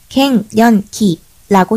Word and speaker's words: 갱년기: 갱년기는 갱년기라고 쓴다. 경은 갱으로 읽힐 때 다시, 더욱, 도리어, 반대로, 어찌라는 뜻이고, 경이라고 발음할 때는 고치다, 개선하다, 변경되다, 바뀌다, 갚다, 배상하다,